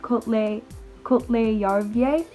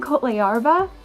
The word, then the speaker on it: Kohtla-Järve: but I believe it's Kohtla-Järve. Kohtla-Järve. I was saying Kohtla-Järve, and they kept laughing at me. The students did. So I think it's Kohtla-Järve.